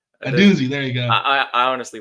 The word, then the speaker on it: Odunze: Odunze. Odunze. There you go. I honestly want to find the right pronunciation because I don't want to butcher the man's name.